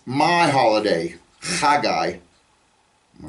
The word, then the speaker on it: Haggai: Another name that we often mispronounce is another Old Testament prophet, Haggai. Okay, or Haggai. It begins with a het.